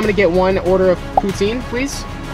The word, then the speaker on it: poutine: babe they have butene way it's been actually pronounced poutine hi there are you okay can I get